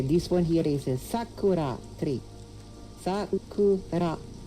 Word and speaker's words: Sakura: This one here is a Sakura. Sakura. Sakura. Sakura. The emphasis would be on the first syllable.